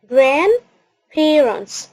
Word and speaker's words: grandparents: grandparents grandparents خلي بالك من النطق بتاعها، وعندي ملاحظتين هنا. الدي ما نطقناهاش، وفي نفس الوقت التي كان صوتها يدوبك مسموع، تقريبا مش منطوق، يدوبك مسموع parents. فما نوضحش، ما نقولش الدي وما نوضحش التي عشان ما تطلعش النطق بتاعنا خاطئ.